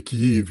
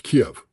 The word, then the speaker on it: Kiev: Uh, if you say Kyiv, you're speaking with a Ukrainian point of view. It's Kiev. It's always been Kiev.